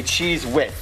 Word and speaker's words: cheese wit: And that becomes, to say it correctly, a cheese wit.